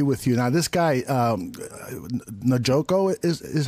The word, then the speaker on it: Njoku: Now, this guy, Njoku is how you pronounce Njoku. It? Njoku.